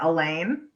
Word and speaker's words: Allain: name i want to make sure i'm pronouncing right elaine yes rhymes with pain perfect okay i may